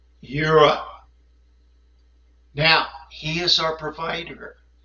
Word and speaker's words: Jireh: Now, you may call him God, Jehovah, Jireh. Actually, in the ancient Paleo-Hebrew, he is, and I'm going to use the pronunciation, Yahovah, Yireh.